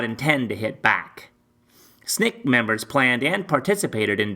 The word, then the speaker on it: SNCC: Student Nonviolent Coordinating Committee SNCC pronounced snick snick statement of purpose